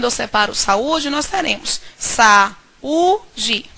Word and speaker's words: saúde: separo saúde nós teremos saúde quando eu pronuncio saúde nós identificamos a sílaba tônica saúde nós conseguimos perceber